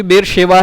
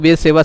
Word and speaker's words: बेरशेवा: क्योंकि बेरशेवा है, SH है, और लोग बेर सेवा सेवा बोल के पूरा दिमाग खराब कर देते हैं।